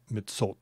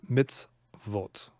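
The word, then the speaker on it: מצוות: with with a sh well actually no it could it could be me midsole i suppose but it's not it's mitz vote consonant tough mitzvot okay my commandments see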